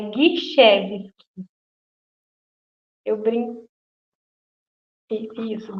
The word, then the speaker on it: Gischewski: Bom, a pronúncia do meu nome correto, mas que todo mundo dá uma escorregadinha por ser um nome complicado, é Guichevski. Eu brinco. Isso, Guichevski.